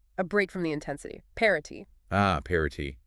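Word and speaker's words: Paraty: Parity. Ah, Parati, pronounced Parachi, yes.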